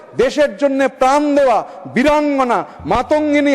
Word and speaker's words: মাতঙ্গিনী: জন্য প্রাণ দেওয়া বীরাঙ্গনা মাতঙ্গিনী হাজরার নাম বিকৃতি করে উচ্চারণ শুরু হলো মানতাগিনী হাজরা মানতাগিনী হাজরা এটা কেবল ভুল নয় বাঙালির আবেগে সরাসরি আঘাত